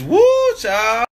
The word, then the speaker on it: whew chile: Like W-H-E-W Chile. Chile. It's woo child.